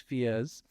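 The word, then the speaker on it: FIES: or FES in Italy I've been told they pronounce it fi it's not FIS and wise it's fiiz uh and it's a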